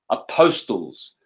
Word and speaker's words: apostles: This is Jesus on the circuit of Galilee with his 12 disciples, apostles. These are 12 posts. That's why they are the apostles. Silent T is very telling. Apostles.